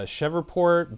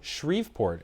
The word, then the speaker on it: Shreveport: crime rates in uh, Chevport, Baton Rouge, and New Orleans, as well as shortages in I'm sorry, what's the pronunciation? Shreveport. Shriveport, excuse me.